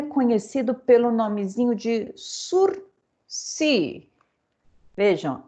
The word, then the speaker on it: sursis: pelo nome zinho de sursi vejam é uma palavra é uma palavra francesa surce então a gente não fala não se pronuncia ss né não tem